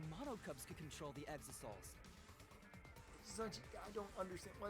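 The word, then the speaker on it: Exisal: dying from internal injuries i hate that it's pronounced exosols it that is a terrible way to pronounce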